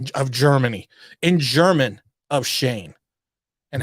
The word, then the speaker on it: Schoen: think shane is pronounced i don't think shone is pronounced shane it actually is it actually is funny